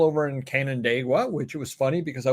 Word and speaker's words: Canandaigua: And he was talking about trying to pronounce places, and he didn't know how to pronounce Canandaigua. Oh, so I'm like, Canandaigua.